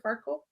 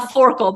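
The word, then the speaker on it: Forkle: I say his name right is it Mr farle a forkel but same it forl so for the very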